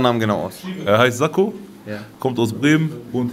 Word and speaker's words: Zako: Wie spricht man seinen Namen genau aus? Er heißt Sakko.